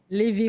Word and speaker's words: LIVI: LIVI Home Care.